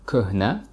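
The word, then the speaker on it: куҳна: The word kuhna, which means old, usually people don't pronounce he in the middle. So it sounds like kuhna without he.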